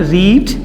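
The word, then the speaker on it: read: य लास्ट टाम बताया रीड होता है इसके स्पेलिंग वही रहते हैं रीड रेड रेड तो इसमें जब हम थर्ड फॉम बो इसको प्रोनाउंस रेड करेंगे दिस बुक मैंने ये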